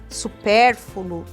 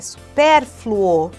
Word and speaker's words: supérfluo: pronúncia privilégio não é com i supérflu hum é supérfluo e a famosa renite